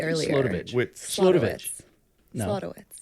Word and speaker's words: Slodowitz: Slodowitz. Slodowitz. Not witch. Man. A lot of wits. Wits Yeah. instead of Wits. wits. No witch. All right. No I witch am, here.